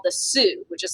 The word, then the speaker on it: Sioux: uh was a native american nation called the sioux which is spelled s-i-o-u-x if you're wondering the sioux nation